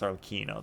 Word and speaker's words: Arlecchino: Oh, and then the Julian Mikel video says it's pronounced with a stressed C syllable, not a ch. Okay, it's Arlecchino then.